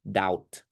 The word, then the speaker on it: doubt: no B in there b is silent you you spell it but you don't pronounce it so pronoun it like d o u t doubt and then number six